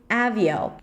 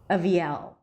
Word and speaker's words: Aviel: So I would do something like Aviel. So the first syllable is just going to be a schwa. The second syllable, a high E, avi. And then the primary stress, the longest syllable, is at the end, L with a dark L.